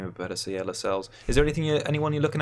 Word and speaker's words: Lascelles: So, and I've been minded to pronounce his name a bit better. So yeah, Lascelles.